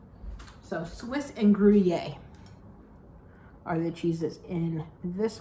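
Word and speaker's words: Gruyère: we are doing and I always mess this up Swiss and grer cheese I actually did listen to about six videos on how to pronounce it so Swiss and guier are the cheeses in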